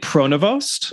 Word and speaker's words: Pronovost: really Pros no it is not is it pronovost it is it's prono it's pronounced it's French and um it's very difficult